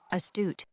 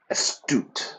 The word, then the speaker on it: astute: Okay, now, this Merriam-Webster is an American dictionary, so the pronunciation is a bit different from how I would say it. Let's listen. Astute. Astute. No, I would say astute.